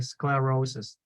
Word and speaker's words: sclerosis: have to have the I I need to hear the L okay sclerosis yeah sclerosis sclerosis yeah so yeah larosis sclerosis right it had to have l okay perfect all right let's